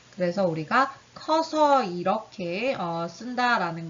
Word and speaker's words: 커서: 크어서라고 하는 게 아니라요. 이 크의 으가 떨어져 나간다. 그래서 우리가 커서 이렇게 쓴다라는 걸 바로 으탈락이라고 해요.